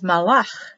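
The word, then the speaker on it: מלאך: This one is malach. Malach. M-A-L. And that's dividing the word. That's not an E. Two syllables.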